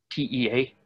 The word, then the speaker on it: Tea: TEA, not like the Okinawa pronunciation of Tay, Kung Fu Tea, has dated this to the late 1800s Chinese rudimentary military training.